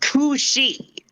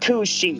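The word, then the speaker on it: cù-sìth: It's spelled like Cusith, but it's pronounced Kushi.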